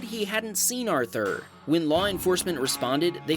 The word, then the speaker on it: Arthur: Arthur, who asked us to pronounce his name Arthur, so don't at me,